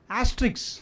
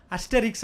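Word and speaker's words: Asterix: For example, 2 வருஷத்துக்கு ஒரு தடவை ஆஸ்ட்ரிக்ஸ் அப்படின்னு சொல்லிட்டு ஒரு பாப்புலர் கேரக்டர் இருக்குது. நம்ம தமிழில் புலி அப்படின்னு ஒரு படம் எடுத்தாங்க இல்லையா, அதனோட ஒரிஜினல், சரிங்களா? அஸ்டெரிக்ஸ் அப்படின்னு அதை ப்ரொனவுன்ஸ் பண்ணணும். அந்த ஆஸ்ட்ரிக்ஸ் வந்து நவம்பர் மாதம்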